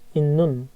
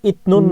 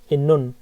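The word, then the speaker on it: 있는: ওয়ে ওয়ে ওয়ে ইন্নুন ইন্নুন, এই যে সিয়ত আর নিয়ন মিলে নয় নয় সংযুক্ত হয়ে যাবে, ঠিক আছে। ইন্নুন, এটা কিন্তু ইতনুন না, ইন্নুন।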